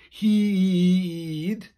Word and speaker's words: hyd: and then again but we pronounce it heed like that in the song then foreign far sounds